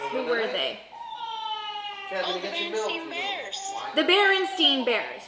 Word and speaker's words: Berenstain: And it's also not the Bernstein Bears. It's the Berenstain Bears. And it's spelled stain. Berenstain.